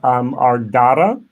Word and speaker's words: Ardra: But it's been anglicized to Ardra.